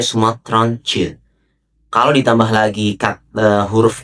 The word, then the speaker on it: Sumatraantjes: Kalau bahasa Belandanya itu istilahnya verklein woord dengan memberikan imbuhan di akhir kata t, j, e atau dibaca c. Jadi ini dibacanya Sumatranche.